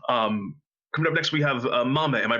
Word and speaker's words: Mamei: Coming up next, we have Mamei. Am I pronouncing that right? Yes, that is correct. Excellent, Mamei.